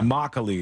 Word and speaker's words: Immokalee: Somebody spelled it out Immokalee, and I'm just assuming that mock is the dominant syllable there because they didn't capitalize it's all anything. caps. This is caps like that too. Immokalee, all right. Yeah. Immokalee is the name of the city.